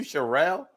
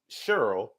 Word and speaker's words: Cheryl: has anybody called you shirelle has anybody messed up like you I mean in my mind you would have to be a real dummy to mess up Cheryl the way the way it's spelled but uh my last